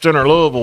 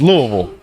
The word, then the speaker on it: Louisville: Louisville one he was doing something something with the